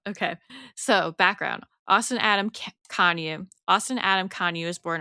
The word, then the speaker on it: Kanuch: show notes or whatever, it's K A N U C H, but it's pronounced Konyu.